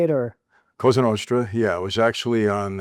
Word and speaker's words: Cosa Nostra: 49 years ago, you were inducted, would you say La Cosa Nostra? Is that how you say it, or? Cosa Nostra, yeah.